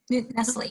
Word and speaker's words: Nestle: I'm going to Wendy Newsel. I'm not sure how you pronounce it, but Nestle. Nestle, sorry.